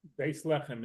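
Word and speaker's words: בית לחם: How do you say Bethlehem? Beis Lechem in Hebrew.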